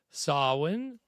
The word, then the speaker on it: Samhain: And, of course, the answer was B, which I know it's spelled like Sam Hain, but it's pronounced Samhain. I believe I've got that right.